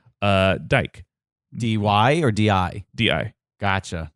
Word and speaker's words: Dike: It's so traditionally, with Greek pronunciation, the E at the end is it is always said. Okay. And so it's spelled like dike.